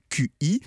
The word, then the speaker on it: Qi: de recharge sans fil le standard qi c7 prononce chi c'est celui qui est